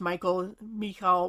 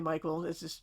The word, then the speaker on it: Michal: And we're given the names of some of Saul's other children, including a daughter named, it's usually pronounced Michal, whatever. We'll say Michael, but it's her name.